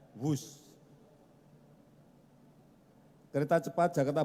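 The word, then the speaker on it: Whoosh: operasi optimal sistem hebat sekali lagi w h o o s h Tapi bacanya wus kereta cepat Jakarta B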